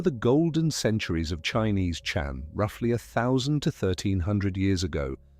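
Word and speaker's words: 禪: The Japanese word zen is simply the Japanese way of pronouncing a Chinese word. And that Chinese word is chan. Chan.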